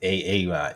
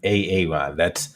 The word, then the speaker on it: Aaron: It's pronounced Aaron. You have to pronounce it correctly. It's not Aaron, it's Aaron.